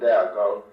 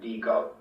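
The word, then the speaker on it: Déagol: Despite the spelling and accent, my father himself did not pronounce these names as Smeagol and Deagol, but as Smeagol and Deagol.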